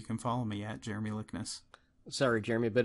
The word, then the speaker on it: Likness: and I'm going to a lot of people AR aren't sure how to pronounce my last name but it's j r m y l i k n SS Jeremy lickness and that is a